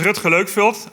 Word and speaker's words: Rutger Leukfeldt: My name is Rutger Leukfeldt. I really like the way you pronounced it.